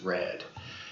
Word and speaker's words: R3D: this is j-o-p-l-a and this is red pla r3d I think is actually supposed to be pronounced red they're both faux marble